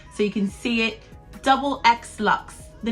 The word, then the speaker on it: DoubleXLuxxe: last couple of weeks how do you say your channel name so it's double x lux so i'll put it on the screen so you can see it double x lux the name comes from